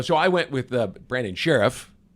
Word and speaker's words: Scherff: Well, so I went with Brandon Scherff, right? That's what the star is for. Pronounce it like Sheriff.